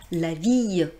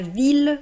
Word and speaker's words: ville: nous très intéressant : on ne dit pas \vij\ \də\ \ljɔ̃\ \pʁɔ.dɥi\ \də\ \la\ \swa\ on dit \la\ \vil\ \də\ \ljɔ̃\ \pʁɔ.dɥi\ \də\ \la\ \swa\ Alors vous allez me dire : mais madame vous nous avez dit que i + 2 l formait le son [j] Hé bien voici une exception !